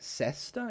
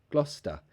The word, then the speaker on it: Gloucester: how do you pronounce Gloucester this is a place in England yeah it says Gloucester but we don't say cesta it's just Gloucester Gloucester again schwa Gloucester oh great question